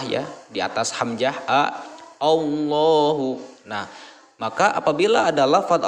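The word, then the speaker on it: الله: maka ini dibaca tafkhim tafkhim adalah menebalkan bunyi huruf ketika diucapkan maka penuhlah mulut oleh gemanya huruf bergema suaranya allohu allohu nah seperti itu cara membaca tafkhim selanjutnya di sini ada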